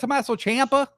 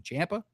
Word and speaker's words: Ciampa: Is that Tomasocha? Sorry, that's actually the real pronunciation. Champa.